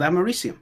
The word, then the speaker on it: americium: said it wrong well that's what it's called it's called americium yeah but i said